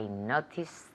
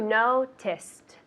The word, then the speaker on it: noticed: Yesterday I noticed her. Perfect. And that's 1. Well, it's 2. Noticed. But the ed at the end isn't a syllable.